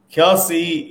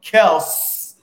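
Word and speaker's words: Kelce: Look, Kelsey is a starter, or Kel, because his brother came out and said that we all they said their last name wrong. So Kels, I think it's Kels or Kel.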